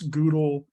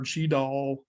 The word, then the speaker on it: GDAL: i use qgis grass goodl or gdal poodle or pdoll depending on how you want to pronounce it post gis i actually